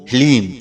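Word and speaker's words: ह्लीं: ध्यान से सुनिए ओम हलीम जी हां मित्रों मंत्र को एक बार आप फिर से ध्यान से सुनिए ओम हलीम इसमें हा ला और बड़ी ई की मात्रा और अं की बिंदी लीम यह है माता बगलामुखी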